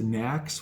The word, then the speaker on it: NACS: That North American Charging Standard is sometimes abbreviated and pronounced NACS for short.